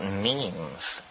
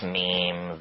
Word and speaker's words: meme: but last year, about memes. You know what memes are? Memes are the smallest units of a concept. And they're like genes. The word is deliberately constructed to rhyme with gene.